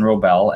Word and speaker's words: Wrobel: Yeah, so my name is Wrobel, and you can see it's spelled W-R-O-B as in baby, E-L.